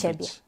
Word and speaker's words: ciebie: Tak, bo dźwięk ci piszemy albo jako C z kreską, z takim akcentem, albo też jako CI.